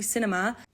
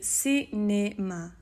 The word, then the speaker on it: cinéma: So it's not going to be cinema, it's going to be cinéma, cinéma. So if you have a go at practicing saying cinéma.